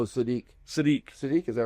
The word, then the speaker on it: Sadiq: Kenyon, how do you pronounce his last name? Siddiq? Oh, Sadiq.